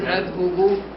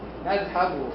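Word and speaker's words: نذهب: Nadhabu. That's the one. Why is there a fatha? You can. Huh? You're pronouncing like there's a fatha on the ha.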